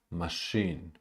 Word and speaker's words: machine: the game official, official, machine, machine. The first syllable is unstressed. Machine.